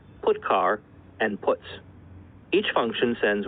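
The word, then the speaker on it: putchar: lot three of the most popular they are pronounced print F put car and puts each function sends one or more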